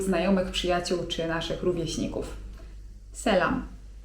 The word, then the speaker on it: selam: selam (czyt. selam) W języku tureckim jest też słowo 'dzień dobry'.